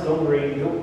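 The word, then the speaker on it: どんぐり: But this is pronounced Guri. This is Don, of course, but we in Japanese you would pronounce it as Don, and then this is the character for Kuri, Guri. And it's pronounced Donguri.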